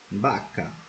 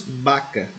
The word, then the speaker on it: vaca: Letra V, la V, vaso, vaca, venado. Como já explicamos no início do vídeo, a letra V em espanhol possui um som semelhante ao som de B. Por isso pronunciamos vaca e não vaca.